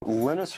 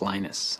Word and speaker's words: Linus: speak Finnish it's lenus when I speak English it's lonus and I really don't care how people pronounce my name but Linux is always